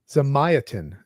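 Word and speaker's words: Zamyatin: There's a Russian novelist who wrote we whose name is Russian Zigvny uh Zamayatin is how it's pronounced.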